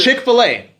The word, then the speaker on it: Chick-fil-A: get so to the- Chick-fil-A. Are you guys familiar with Chick-fil-A? Yep. The way you make it sound phonetically, Chick-fil-A, right?